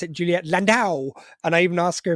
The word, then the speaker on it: Landau: at this time um and I believe I pronounce it Juliet landow and I even asked her if I pronounced